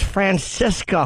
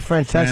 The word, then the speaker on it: Francesa: And he said, "Oh, I thought it was Francisca who left." What? He meant to say Mike Francesa.